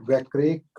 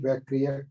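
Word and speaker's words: वैक्रियिक: शेषाणाम सम्मूर्छनम, शेषाणाम सम्मूर्छनम, औदारिक वैक्रिक आहारक तेजस कर्माणि शरीराणि, थोड़ा सा और अच्छा उच्चारण करिए। औदारिक वैक्रियक कारक तेजस नहीं, वैक्रियक कारक, वैक्रियक कारक, वैक्रियक कारक तेजस कर्माणि शरीराणि कर्मणानि, कर्मणानि शरीराणि।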